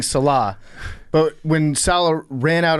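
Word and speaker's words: Saleh: __ ] up in how to say his name. It's Salah. He's been saying Salah.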